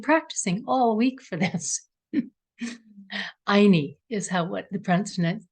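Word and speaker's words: Ayni: Anyi is what the pronunciation is.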